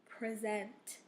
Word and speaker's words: present: also has different pronunciations if you say the word with an accent on the first syllable it is a it is pronounced differently and has a different meaning present this word present this